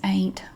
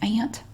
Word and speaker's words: Aunt: this is from aunt oh my family says ain't like on andy griffithshow8b ain't maples but i would say eight maples but i realize it's pronounced ant ant that now i'm making into a two-syllable